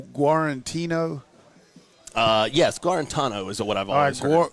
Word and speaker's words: Guarantano: How do you pronounce that? I think it's I've always heard Jarrett Guarantano. All right, it's Guarantano.